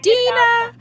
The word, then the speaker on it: Deanna: it and and deanna are we pronouncing your name is it dina or deanna tina oh we've been saying deanna the whole time dina i apologize to you i've been saying diana and his dina okay dina so it's